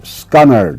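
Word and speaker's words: scunnered: R E D and you pronounce it scunnard.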